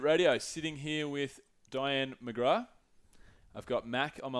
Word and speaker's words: McGrath: McGrath rhymes with Myanmar.